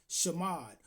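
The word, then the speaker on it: שמד: And that is spelled Hebraically with the shin, the mim, and the dallet. Shamad is a Hebrew root word pronounced shamad which means to destroy,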